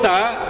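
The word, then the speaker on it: ث: Huruf tsa ya, Pak, ya. Huruf tsa itu makhrajnya adalah ujung lidah dengan ujung gigi seri atas.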